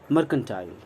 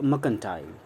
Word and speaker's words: mercantile: सो मर्चेंट, मर्केंटाइल या मर्केंटाइल। आर बोल भी सकते हैं, आर नहीं भी बोल सकते। आर बोलेंगे तो अमेरिकन इंग्लिश होगी, आर नहीं बोलेंगे तो ब्रिटिश इंग्लिश होगी, ब्रिटिश स्टाइल होगी, ब्रिटिश एक्सेंट होगा।